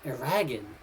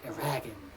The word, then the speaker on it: Eragon: thought it was pronounced eragon like like dragon except instead of a d then he just put an e there instead which i mean yeah